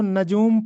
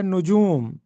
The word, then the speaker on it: نجوم: نجوم کا درست تلفظ بتائیے۔ اکثر لوگ اس کو نجوم پڑھتے ہیں، جبکہ درست تلفظ ہے نجوم، نون پہ پیش اور جیم پہ پیش لگا ہے، علم نجوم۔ تو نجوم